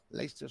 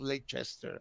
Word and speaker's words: Leicester: So I say, right, I repeat to myself, Leicester Square. It's not Leicester, I would say in Italian. Leicester, right. Leicester right. Square, Leicester Square.